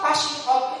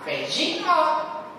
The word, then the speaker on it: phasing out: Lalu semua dosen rektor ngomong mahasiswa passing out kita. Terus orang yang bahasa Inggris kan, kenapa itu mahasiswa pingsan semua? Karena bacanya bukan passing out, bacanya apa? Phasing out.